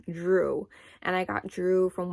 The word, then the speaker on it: Jrue: It's spelled J-R-U-E. The only thing I didn't like about that name was it being 1 syllable.